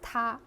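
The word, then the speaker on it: 他: they all these like pronouns they're actually all pronounced the same way as ta or tamman for a plural number of people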